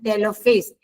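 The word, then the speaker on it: telophase: देखो profess मेटाफेज anaphase and टेलोफेज ये टेले नहीं टेलो है। आपके बुक में स्पेलिंग मिस्टेक है। टी ई एल ओ टिलोफेज होता है।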